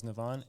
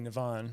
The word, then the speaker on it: Nivan: life and ever since I've really owned my name and the correct pronunciation um and yeah I still I've never once since then introduced myself as navon and still I have folks who will say nivan because that's just how